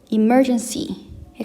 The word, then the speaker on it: emergency: 어 emgency ergency 여기에도 두 번째 음절인이 emergency의 강세를 두시면 되겠고요.